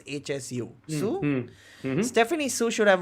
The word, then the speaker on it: Hsu: How do you pronounce HSU? Sue?